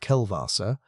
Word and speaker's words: Kellwasser: Kellwasser, pronounced Kelvassa, around 372 million years back is the pulse that killed the reefs.